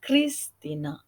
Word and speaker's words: Kristina: Tertulisnya Cristina. Ya, tetapi ketika diubah ke katakana bukan apa yang tertulis, tetapi apa yang didengar dari ucapan nama tersebut. Ya, dibacanya adalah Kristina atau diucapannya Kristina.